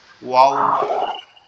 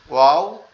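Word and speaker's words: و: আচ্ছা, ওয়াওটা হচ্ছে আমাদের দুই ঠোঁটটা গোল হবে, এরকম একটু গোল মতো হয়ে ওয়াও এভাবে থাকবে, ঠিক আছে? ওয়াও এভাবে উচ্চারণ হবে।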